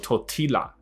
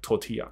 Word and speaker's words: tortilla: 抱怨 OK 的，来，所以这个人可以，下一个。When you're eating tortilla chips，所以这个字很酷，那个墨西哥的食物，tortilla，它的发音很有趣哦，它不是念作 tortilla，我听来听去就是 tortilla，OK，、okay? 所以就是他们所吃的 tortilla 是一种面饼，tortilla。好，所以这里说的 tortilla 怎么了呢？When you're eating tortilla